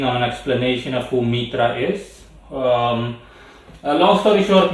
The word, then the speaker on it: Mithra: person got maestra or mitra i'm going to pronounce it mitra because as far as i know that's how it's pronounced originally um it that's spelled